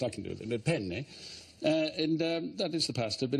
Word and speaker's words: penne: Well, I mean, you know, penne, pasta. In Italian, it's very important that you pronounce a double consonant. There are two N's in the word. So you say it, how do you say it? Penne.